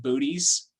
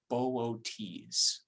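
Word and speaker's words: Boötes: with you right now try to pronounce this name with the o's as two separate syllables bootys boots okay um but yeah arcturus is in boots but if you want to make people giggle go ahead and just pronounce it booties i'm not i'm not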